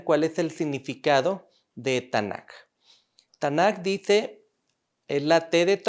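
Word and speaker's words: Tanakh: para que vean cuál es el significado de tanaka estándar dice el la tdt ahora n de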